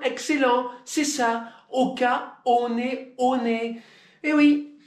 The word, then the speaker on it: One One: c'est ça au cas on est on est et oui c'est comme ça que le maori prononce il dit on est en anglais si tu